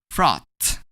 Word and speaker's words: frothed: When we add a D to froth, we're gonna pronounce it as frothed.